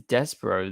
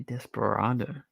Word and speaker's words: Despero: Or actually, it's Despero. That's how you say it. I keep on saying Desperado. Yeah, literally, Flash first just said that. Despero. There you go. Why did I say Desperado?